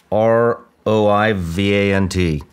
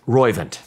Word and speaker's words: Roivant: R-O-I-V-A-N-T. How do you say that? Roivant.